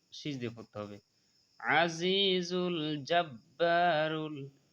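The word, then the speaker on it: الْجَبَّارُ: আজিজুল জাব্বারুল, জাব্বা একালিফ টানতে হবে, জাব্বারুল মুতাকাব্বির, মুতাকাব্বির, কিন্তু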